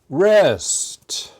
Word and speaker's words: wrist: this is my wrist wrist the W is silent we don't pronounce it it is a body